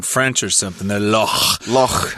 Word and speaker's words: loch: Loch. Not yeah, loch, I'm trying to give it a little more of the Scottish pronunciation.